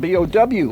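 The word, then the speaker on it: Bouie: And we say, well, wait a minute, Bowie is spelled B-O-W-I-E. Yeah. In Spanish, there is no W, so nobody can Yeah. pronounce B-O-U-I-E as Bowie.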